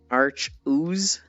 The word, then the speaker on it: Arceus: It's clearly pronounced Arch-ooze.